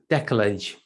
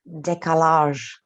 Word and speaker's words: décalage: Do you know how it's pronounced? am I pronouncing it correctly? Décalage. Décalage. I think it's French, right? Yeah.